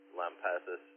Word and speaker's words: Lampasas: hobbies late you're from Lampasas rhymes with Arkansas nice go ahead rod